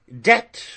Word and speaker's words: debt: he should say doubt debt when he should pronounce depth d e b t not d t he kleppeth a cough